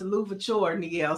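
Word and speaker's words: Louverture: Mike V says it's pronounced Louvore.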